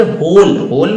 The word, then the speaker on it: whole: तो फिर होल मतलब HOLE समझो, WHOLE होता है लेकिन W को साइलेंट रखो, और HOLE होल होता है, तो होल मतलब गड्ढा,